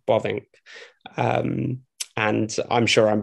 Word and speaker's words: Bavinck: first off i the the best way i think most brits would be able to pronounce his name is bobbink um and i'm sure